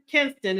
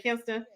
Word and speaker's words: Kinston: tell you I love K Kinston is how you pronounce the name Kinston I love uh kadan's